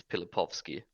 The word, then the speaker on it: Pilipovsky: Like the anglicized version, I always just say like Pilipowski, but like it's Pilipovsky. Like the W is pronounced Yeah, as a it's like a V.